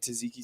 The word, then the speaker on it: tzatziki: Homemade tzatziki sauce that if you put it on the burger. Say it with me slow. Tzatziki. Yep. No, there's no tzatziki. Tzatziki. It's spelled with a T.